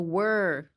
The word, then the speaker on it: were: So anytime I feel like when there's a phrase using WOR, were, I would say pretend you have water in your mouth, like were, and you're trying to speak without drooling everywhere.